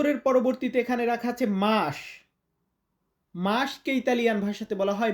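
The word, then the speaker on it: mese: অনেকে মেজে বলি। তো উচ্চারণটা হবে মেসে।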